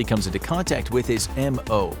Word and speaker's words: M-O: On the other side of the spectrum, one of the first bots WALL-E comes in contact with is M-O, pronounced just as he says it, “Mo.”